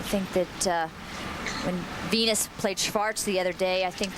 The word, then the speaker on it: Schwartz: Barbara Schwartz, the Austrian pronunciation for all of you back home who may be wondering. Schwartz.